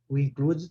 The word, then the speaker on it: included: Agora, o included pronuncia, né? O E, included.